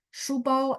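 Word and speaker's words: 书包: Shubao SHU, tapi memang benar bunyinya SU gitu ya. Cuma dia harus lidahnya diangkat karena H.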